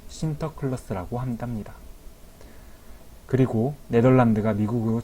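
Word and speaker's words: Sinterklaas: 선물을 나눠 줬는데 이 성 니콜라스 를 내렸는데 발음으로 쉼터 클러스터 라고 한답니다 그리고 네덜란드가 미국으로 진출 했을 때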